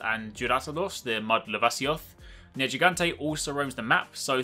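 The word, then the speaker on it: Nergigante: once again, very similar, they just dropped the U as is common in Japanese pronunciation anyway, so in the West, the name for your flagship monster is actually just Neru Gigante, so kind of easier to say.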